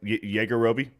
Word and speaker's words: Yajirobe: Did I pronounce that right? Yajirobe? Oh yeah. Yeah.